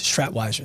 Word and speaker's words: Schratwieser: and then you say no no it's it's Strat wiser like okay cool got it wrote that down